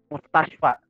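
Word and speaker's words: مستشفى: Askunu fi hayyil Mustashfa. Itu bacanya mustashfa.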